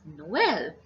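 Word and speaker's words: Noël: You can see in this word we have two vowels and both of them are pronounced separately. So it is Noel.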